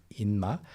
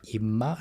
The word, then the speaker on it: 인마: And it becomes 인마. And a lot of people in spoken Korean pronounce it like 임마 as well.